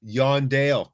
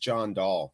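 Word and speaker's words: Jon Dahl: Yondale. It's not pronounced John Dahl, my friends. No, it's Yondale.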